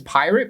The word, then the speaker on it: Pyrt: exactly another Music Festival this Festival name is pirate but it's spelled p-y-r-t okay is Billy trying